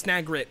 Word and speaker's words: Snagrit: Well, no, it's Snagrit with a hard T.